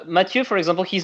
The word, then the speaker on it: Mathieu: Well, it's Mathieu because it's French, so it's not Mathieu as like Matthieu, right?